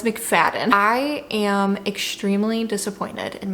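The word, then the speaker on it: McFadden: first few updates of this video I've been mispronouncing that author's name um but it's mcfaden I am extremely disappointed in my reading experience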